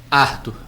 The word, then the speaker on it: Árthur: Arthur. Tem acento agudo no A para manter a pronúncia inglesa.